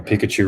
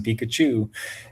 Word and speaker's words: Pikachu: Now Pikachu rhymes with two.